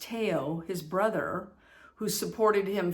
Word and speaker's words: Theo: And then there's, well, it looks like Theo, but I guess it's pronounced Teo, his brother, who supported him financially and emotionally his whole life.